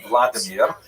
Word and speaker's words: Vladimir: What's uh especially important in its history is the conversion of one of its leaders a deer pronounced in Russian Vladimir uh shown here in a statue overlooking the dipro river that runs through the middle of cave.